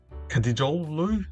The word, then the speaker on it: Eren Dinkçi: Um and they got like a left back Eren Dinkçi, that's how you pronounce it, plays for Brighton in the English Premier League.